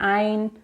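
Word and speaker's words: עין: I starts with an ein, pronounced ein.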